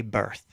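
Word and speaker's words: berth: know it it docks it's technically docking at what they call a birth it's leaving from a birth did you know that it's spelled b-e-r-t-h however it also when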